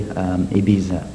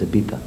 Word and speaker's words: Ibiza: Ibiza, well, a lot of English or Americans, Canadians or whatever, they say Ibiza, but the Spanish pronounce Z as TH, so it's Ibiza.